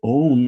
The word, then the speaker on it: Om: And in fact, Om is comprised of 4 syllables or 4 sounds. One is not a sound, it's silence. The Ah, the U, the M, and then the silence.